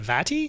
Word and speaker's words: Vati: loving i'm loving how do you say it vati vadi yes yeah we have that the crash area